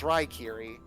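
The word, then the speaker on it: Raikiri: the true god of thunder, is known as Rykiri. How do I spell that out of character? R-A-I-K-I-R-I. R-A-I. bleh. Here, I'll just Can you type it spell into... Yeah, it's spelled in the get chat. Rykiri.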